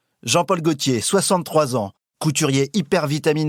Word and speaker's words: Gaultier: choisis bonsoir jean paul gaultier gauthier je devrais dire d'ailleurs c'est vrai c'est vrai c'est vrai personne ne prendrait un l et personne ne le prononce c'est pas normal là